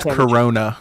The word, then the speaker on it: Carano: that i said about riza skywalker or uh carano uh go ahead knowing his chris come find pronounced corona chris all right where can they find the